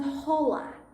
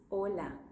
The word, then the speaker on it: hola: It's just that you have to remember that it's not hola. Hi, it's hola. H is silent in Spanish.